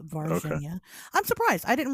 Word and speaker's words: Varginha: Is how it's pronounced, Varginha. Okay. I'm surprised. I didn't realize that you had thought it was Virginia.